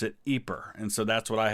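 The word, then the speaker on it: Ieper: there are so many different ways that people pronounce the name of this town. You'll hear it or the British just called it wipers because it was a lot easier and it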